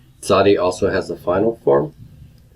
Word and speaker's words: Tsadi: Originally, it would have been pronounced as an S with constriction in the throat. Not just S, but sa, sa. Nowadays, people will pronounce it as a TS sound, as in hits or eccentric.